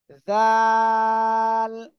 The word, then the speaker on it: ذ: আমরা এটা এখন পড়বো জিহ্বার আগার সামনের উপরে দুই দাঁতের আগার সাথে লাগাবো লাগিয়ে আমরা উচ্চারণ করব জাল একসাথে মাশাল্লাহ খুব সুন্দর